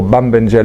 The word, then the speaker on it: Bambengele: I had the good fortune of working with this group here, the Mbengele, or Bambengele as you properly pronounce a plural in Bantu languages, and they call this